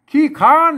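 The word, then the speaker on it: ขี้คร้าน: ตัว ห่าง นะ อ่า ขี้ ค้าน น่ะ ขา น่ะ ไม่ ใช่ คลาน นะ ครับ อือ ขี้ คร้าน อ่า นี่ มัน ออก เสียง เป็น ขอ นะ ขี้ คร้าน น่ะ มัน ต้อง ไป ลั่น ลิ้น น่ะ ขี้ ค้าน ออก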